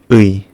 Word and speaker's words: 의: The correct pronunciation is 의. And it feels like pronunciation ư and 이 quickly. 의. In some cases, it is pronounced as ư or 이. And also some people just pronounce it as or e.